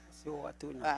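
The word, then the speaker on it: Mosi-oa-Tunya: Yo solo conozco de su país una de las maravillas naturales de este mundo, que es, me dice si lo pronuncio bien, Mosihuatunia. Mosihuatunia.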